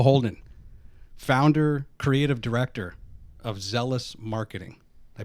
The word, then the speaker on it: Zellus: Carl Holden, founder, creative director of Zellus Marketing. Did I pronounce that correctly?